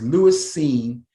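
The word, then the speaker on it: Lewis Cine: pronounced his name because it's spelled c-i-n-e but his name is lewis seen and he's from oh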